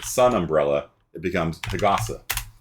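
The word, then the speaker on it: 日傘: But if you make it a compound word, like sun umbrella, it becomes hagasa, like that.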